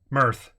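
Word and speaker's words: Mearth: Mirth. I assume that's the way they're pronouncing it. Like Earth, but with an M? Mirth sounds cool. It's like Earth, but with an M at the front.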